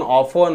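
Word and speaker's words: often: गोष्टी शिकणं गरजेचे आहे इथे लिसन म्हणजे टी सायलेंट आहे सॉफन ऑफन हेसन म्हणजे टीच बघा सायलेंट असतो जी एच इथे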